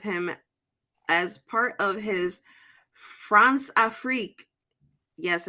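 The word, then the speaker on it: Françafrique: close relations with him as part of his France afrique yes it's actually how you pronounce it I actually looked it up it's Franza freak which is just basically a combination of France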